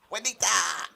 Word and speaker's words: Juanita: Oh, like someone was like he was on his channel with that Juanita, the one that can't speak, that has to hold up like Alex, it's pronounced Juanita.